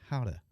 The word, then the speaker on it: Gouda: It's pronounced Gouda cheese. It's not Gouda, it's Gouda.